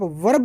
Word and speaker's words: verb: इसी प्रकार वर्ब, इसे आप वर्ब न कह के वर्ब कहें, इसमें आर साइलेंट होगा।